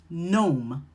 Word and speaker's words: gnome: When you see that GN pattern, the G is silent and you're going to pronounce the N sound, like gnome or gnat.